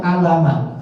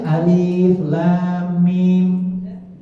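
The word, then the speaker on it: الم: Begitu disuruh baca alif lam mim, dia baca alama. Enggak boleh dibaca alama walaupun tulisannya itu aliflah. Harus bacanya alif lam mim.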